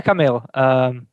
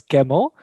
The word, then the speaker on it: Kamil: a good start yeah camille so people tend to pronounce it as camel so feel free to over pronounce the i at the end right in the last